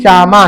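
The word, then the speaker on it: שמע: जैसे शमा हमने आपको बताया ना शमा शमा जिसका उच्चारण श्यामा है। लिखते शमा है बोलते श्यामा है।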